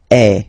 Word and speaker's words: es: And for tu, then you've got this combination of letters, okay, but then basically the sound you will pronounce or you will produce is est, okay.